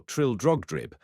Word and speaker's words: Trildrogdrib: It contained a warrant for conducting me and my retinue to Traldrugdub, or Trildrogdrib, for it is pronounced both ways as near as I can remember, by a party of 10 horse.